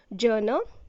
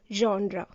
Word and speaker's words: genre: This one is not genre, it is genre. The meaning of this word is category of art, music or literature. So the right pronunciation is genre.